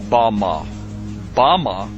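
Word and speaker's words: במה: which Satan fell is Strong's Hebrew word 1116 pronounced Bama is most commonly used to refer to a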